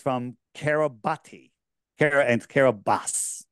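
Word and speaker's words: Kiribati: to the nation of kabati and it's Carabas but I'm G to call it kabati because that's how it's spelled and all the people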